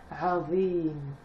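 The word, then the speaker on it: عظيم: Sauf qu'on arrive à la fin de la ayat, donc le tanwin madamma, c'est-à-dire le oun, on ne va pas le prononcer. Azim.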